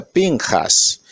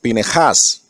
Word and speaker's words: Pinejas: correcta en el hebreo espín esas algunos dice pinchas pero en la realidad se pronuncia suena como pine hash que es boca de serpiente esta hermosa para